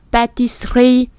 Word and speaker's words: pâtisserie: Để chúng ta để cái lưỡi thẳng và dằn nó xuống một cái. Sr. La pâtisserie. Còn nếu không thì la pâtisserie.